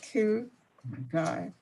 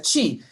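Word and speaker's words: Qi: All right, we're going next to House Bill 54, Delegate Q. Guy. Thank you, Madam Chair. It's Delegate Chi. I know my last name is it's a Chinese last name spelled Q-I, pronounced like Chi, like the like a Tai Chi.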